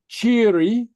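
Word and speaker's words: tìoraidh: so anyway so well followed by a narrow vowel and that's the I or the e the pronunciation is softened so it sometimes sounds like a j or CH or soft G okay so here are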